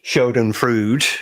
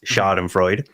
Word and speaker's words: Schadenfreude: Obviously, Shoden Frood. Yes. Which is, for everybody else who speaks the English language, it's Schadenfreude, even though it's a German word.